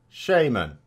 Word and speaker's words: shaman: So we go to the Oxford English Dictionary, and in amongst the different pronunciations we have this. Shaman. That's how it's pronounced.